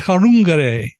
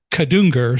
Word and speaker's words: Kadungure: First name is Chenai, and her last name is Kadungure, or something close to that. There's a D in it, but people, if you're speaking appropriately, you don't pronounce the D.